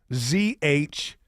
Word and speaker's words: zhuzh: Either way, whether it's a noun or a verb, it's spelled the same way. Z-H-U-Z-H. Zhuzh. And the noun, an act, addition, or quality that makes something more stylish, lively, or attractive.